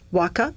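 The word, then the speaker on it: Waqaa: It is pronounced waka.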